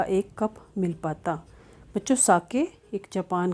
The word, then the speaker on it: sake: Pronounce कैसे करना है, SAKE एस ए को आपने प्रोनाउंस करना है जैसे फादर में हम एफ ए को करते हैं, यानी फा और सा, तो ये सा हो गया। और के ई को हमने कैसे प्रोनाउंस करना है, जैसे हम वे बोलते हैं, तो ये बन गया सा के।